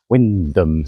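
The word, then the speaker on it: Wymondham: And it's not even one of these odd Norfolk places like Haysborough spelt Happisburgh or Windham spelt Wybondham.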